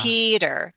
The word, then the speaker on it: Peter: The first vowel sound is stressed. The following vowel sound is unstressed. Will often change the T from a true T to a flap T. It sounds like a D sound like Peter.